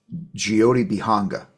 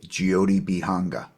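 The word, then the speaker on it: Jyoti-Bihanga: spot in San Diego it's called geote banga it's spelled it's it's kind of weird how it's spelled j y o t b i h n g geodi banga it's a vegan vegetarian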